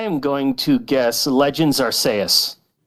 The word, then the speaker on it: Arceus: assuming this is See, that can't be a hard C. It is a hard C. Oh jeez. I I think the name sometimes Nobody can agree on how to say it. I say Arceus. Well. Loonsar says Arceus. But I want to say Arcaeus because it's clearly named after Deus.